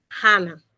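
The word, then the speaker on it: חנה: Entonces resulta que Ana en hebreo es Hana. Proviene de un verbo, pero su pronunciación es Hana.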